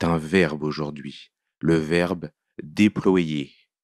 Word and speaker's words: déployer: C'est un verbe aujourd'hui, le verbe déployer. Il n'est pas si facile parce qu'il ne se prononce pas tout à fait comme il s'écrit.